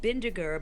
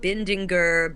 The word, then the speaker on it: Bindiger: I said, "Well, it's Bindiger, but you've been saying Bindinger, Bendinger, Bindigener."